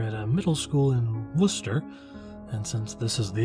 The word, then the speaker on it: Worcester: that's it's pronounced Worcester but it's spelled wor C es ter anyway it was called